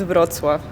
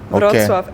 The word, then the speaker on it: Wrocław: And the pronunciation of like my city, it's Wrocław. Wrocław and Warszawa.